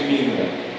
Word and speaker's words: Mina: Tem que ter cuidado com a pronúncia. Porque tem que cuidar que é de Mina. Ela sinaliza a ancestralidade dela. Mina, Conga, Angola. Então é Romaria de Mina. Não é de Minas, você entendeu?